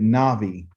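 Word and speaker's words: nabi: and this is ugly n a b i okay you pronounce it navi okay all right so there's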